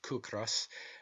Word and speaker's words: ciocras: Such, for instance, are the Irish words ciocras, pronounced kukras, meaning hunger, and the word kis, pronounced kis, meaning rent.